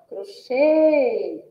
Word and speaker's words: crochê: e agora palavra é a palavra crochê Olha só crochê a sílaba tônica aí é oxê que também possui um som fechado e que vai receber o acento circunflexo a E agora temos